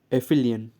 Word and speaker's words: aphelion: Actually इसका जो pronunciation होगा वो क्या होगा? एफिलियन, ठीक है।